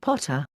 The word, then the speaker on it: Pater: Ammon is also Pa, Thor, Jove, and Pater, pronounced Potter.